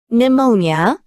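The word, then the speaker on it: pneumonia: PN으로 시작하는 용어도 PS PT와 마찬가지로 피가 묵음입니다. 네모아 네모니아 네모니아 유모니아 폐렴는 발음 기호 f로 p로 발음되고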